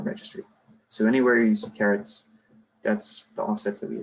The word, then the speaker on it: CRT: I'll pronounce that as caret. That's a climate reserve ton.